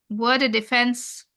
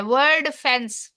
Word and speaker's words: Wordfence: वर्ड डिफेंस, उसको पसंद नहीं आ रहे मेरे स्पेलिंग इसके। हम देखते हैं इसके स्पेलिंग क्या है। WORDFENCE। अच्छा, वो डिफेंस नहीं है, फेंस है, वर्ड फेंस।